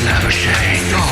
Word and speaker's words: Labuschagne: His name is unpronounceable. The selectors have no trouble. It's Marnus Labuschagne.